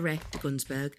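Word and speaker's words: Terry de Gunzburg: really really nice and Terry denburg has Rouge nocturn ter you got to say it like that ter ter ter gunsburg um there's a it's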